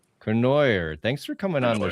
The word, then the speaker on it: Cournoyer: Kenoyer. Kenoyer.